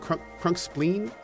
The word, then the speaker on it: Crunkspline: Although, did I pronounce that incorrectly? Is it Crunkspleen? I think we corrected this at one point, but it's been a while. Okay. It is spleen.